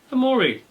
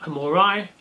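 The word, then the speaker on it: hamorii: is the humble Brachypelma hamori. You can pronounce that hamori or hamori, entirely up to you.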